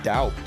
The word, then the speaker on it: doubt: So you're obviously supposed to say doubt, right? No, you're not. What do you mean, no, you're not? There's a B in there.